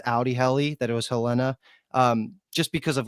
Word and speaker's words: Helena: Geez, I can never get that name right because it looks like it's pronounced Helena, but it's Helena.